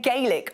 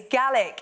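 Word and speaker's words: Gaelic: fancy giving GIC ago yes I said it right I've been saying galic all show it's GIC yes offending all my Scottish viewers I'm so sorry this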